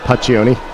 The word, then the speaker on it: Paccioni: That's how we would pronounce it in the U.S. mostly. Paccioni.